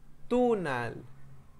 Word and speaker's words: tunal: un poco exagerado pero cuando hablamos no suena así sino que el tunal y spain como ven también las palabras en náhuatl en su mayoría son graves la pronunciación es grave entonces no es el tunal en castellano acentuamos al final generalmente pero en náhuat lo hacemos no en la sílaba final sino en la que está antes por ejemplo diríamos gec